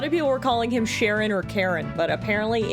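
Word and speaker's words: Cheren: Is it Sharon? Is it Charon? Is it Karen? Is it Karen? I don't know. Apparently it's Churen, like cherry.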